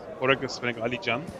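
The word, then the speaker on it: Alican: he's also from Turkey Ali Jan Ali oh the C is pronounced as a j yeah Ali J really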